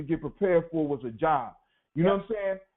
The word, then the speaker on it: Job: And I ran into the book in the Bible called, they say it was Job, but it's spelled just like job, and I associated the adventures of Job with a job.